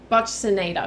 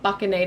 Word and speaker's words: buccinator: Buccinator, because I know it's not buccinator, it's pronounced with an S, so buccinator, which is kind of it helps with jaw movement, okay?